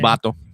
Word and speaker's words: Lobato: Loato.